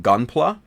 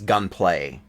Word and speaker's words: Gunpla: of their videos and norm continues to miss pronunciate the term Gunpla instead he says the word he says words he says gunplay gun play not Gunpla gunplay right so he completely mispronounces it so that's kind of